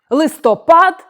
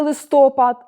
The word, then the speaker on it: листопад: випадок а не випадок листопад а не листопад 11 14 е помилка